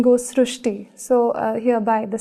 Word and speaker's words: Shrusti: We have heard of Shristi, but this is a very unique name, Shrusti. So in Marathi, the word Ri is pronounced as Ru. So that is why the pronunciation goes Shrusti.